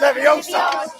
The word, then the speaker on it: Leviosa: say it wrong it's never young son that's leviosa you doing if you're so clever it's pretty